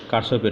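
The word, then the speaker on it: Kirchhoff: তো কারশফ না কিরশফ সেটা মূল কথা নয়, তিনি যে সূত্র দিয়েছেন সেটি গুরুত্বপূর্ণ বিষয়। তো আমরা সচরাচর যে শব্দগুলো উচ্চারণ করি, যেরকম বার্ড, থার্ড, ফার্স্ট, এই স্পেলিং অনুযায়ী আমরা এটা কারশফ বলতে পারি। গুগল প্লে প্রোনাউন্সিয়েশনে গেলেও আমরা কারশফসি উচ্চারণটা পাব।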